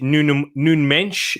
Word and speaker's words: Nuno Mendes: I'm surprised Wolves didn't go for Nuno Mensch, or that's it, Nuno Mensch. That's what the Portuguese. That's how you meant to pronounce it in a Portuguese accent.